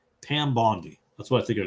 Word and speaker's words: Bondi: There's a knock at the door, but Bondi is pronounced with a long I. Oh, Bondi. Bondi.